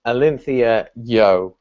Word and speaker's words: AlintheaYoh: And it's just very, very simply pronounced AlintheaYoh, as in like yo at the end.